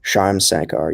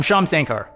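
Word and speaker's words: Shyam Sankar: always say that wrong sham sankar yeah i believe that's how you say it anyway he of course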